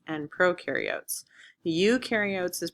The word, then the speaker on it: prokaryotes: And prokaryotes is like, oh no, we need professionals, to carry the oats for the oatmeal. So eukaryotes, prokaryotes.